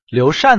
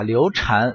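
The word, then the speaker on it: 刘禅: 把刘禅、刘禅是念错的，包括我上期出一个视频，也有玩家吐槽说你怎么念刘禅啊，为什么不念刘禅啊，这个是有原因的。首先这是个多音字啊，这个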